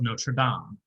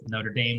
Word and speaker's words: Notre Dame: Not to be confused with Notre Dame, the school that Rudy attended. Yeah, I will say that is a pet peeve. Anytime somebody pronounces this movie, The Hunchback of Notre Dame, I'm like, no, it's not. Yeah, it's mostly New Yorkers, I find.